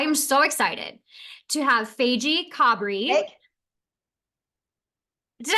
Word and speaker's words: Faigie: Faigie.